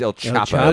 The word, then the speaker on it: El Chapo: ELO you Sayo it's El Chapo Chapo I will not you have to pronounce the h you pronounce the h yeah in Spanish you pronounce the h oh you do yeah